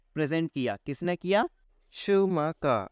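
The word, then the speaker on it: Schumacher: शूमकर। According to German pronunciation it इज शूमकर।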